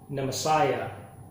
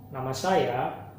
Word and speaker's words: nama saya: so nama saya don't pronounce it nama saya most native English people say the Messiah so it's not nama saya nama saya nama saya picture next let's learn to